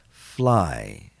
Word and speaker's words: fly: Fly, fly. The long I sound, even though it's a Y.